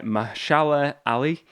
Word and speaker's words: Mahershala Ali: The movie is Blade, starring Mahershala Ali, and it will be coming out in November 3rd, 2023.